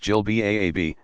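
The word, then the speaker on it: jilbab: somewhere a flowing gown Jill Bob pronounced Jill ba a B that extends to the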